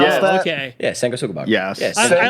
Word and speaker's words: Sanguisugabog: the fuck you pronounce Yeah. that? Okay. Yeah, Sanguisugabog.